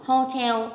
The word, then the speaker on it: hotel: Hotel on the second.